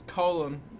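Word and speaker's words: Colón: i'm pronouncing it right it's colon but with a feta on the second eye for whatever reason and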